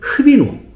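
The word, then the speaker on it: ღვინო: 그 다음에 와인은 흡인호. 흐 발음을 잘해야 돼. 이렇게 발음합니다. 그래서 가래를 좀 끊어서 흡인호 이렇게 발음합니다.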